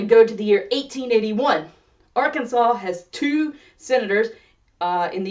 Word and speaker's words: Arkansas: And the pronunciation is set forever and ever, by law, as Arkansas. So that's that right? Standardize the pronunciation, standardize the spelling, surely that's enough grammar-based legislation for any state, right?